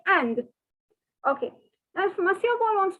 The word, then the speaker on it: est: that you can see is pronounced as a it is not s okay it is not